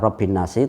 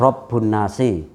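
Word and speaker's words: رب الناس: saja qola firman Allah Robbin nasi bisa dibaca kalau dia bacanya ke Biro binnas dibaca Robbi nasi tapi kalau dia lepas dari sana bisa dibaca robbun nasi jadi ini berdiri sendiri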